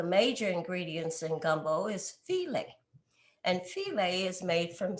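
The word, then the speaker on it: filé: And filet is spelled File.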